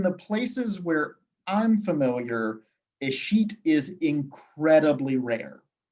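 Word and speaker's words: escheat: and this is a process known as a sheet in the chat because it is spelled nothing like it sounds so a sheet is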